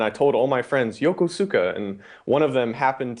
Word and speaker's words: Yokosuka: Did I do Yokosuka? Yokosuka.